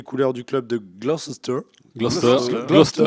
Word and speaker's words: Gloucester: Gloucester. En fait, on prononce pas le. Non. Gloucester. Comme Leicester, Gloucester.